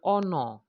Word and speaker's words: honor: For example, an a, an honor, an honest man. So we cannot say a ha, no, because the H there is silent.